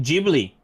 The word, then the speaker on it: Ghibli: Museum mitaka is it Jubilee by the way Jubilee Dana was saying that Dana says it could be pronounced either way because uh Miyazaki loves Italian stuff and then and Italy it